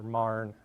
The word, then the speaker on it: Marion: And I went going from Chicago to Carbondale, Illinois, down to sort of the Little Egypt area around Cairo and Marion, or Marne, as it's properly pronounced, and up to Decatur, Illinois, right between